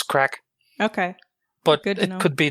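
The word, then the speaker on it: craic: guys doing what's the crack um what's the crack is that like a what's the crack what's that mean that's about drugs no that's c r a i c it's it's galic it's more like you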